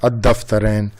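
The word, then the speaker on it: الدفترين: See here what is this, dal is the sun letter. So that's why we are not pronouncing al. we are pronouncing ad-daftarain, dal having the shadda. That's why it is coming ad-daftarain.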